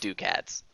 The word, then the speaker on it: ducats: See, like, bureaucrat, that's pronounced cat, right? So what's wrong with Ducats being pronounced that way?